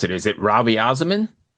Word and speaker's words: Raviasamin: So how do you pronounce it? Is it Ravi Azamin?